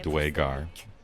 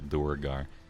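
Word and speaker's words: duergar: others the Grays only I'm supposed to pronounce it dwaygar I've only read the word I thought it was doer guy uh Jared Kruger I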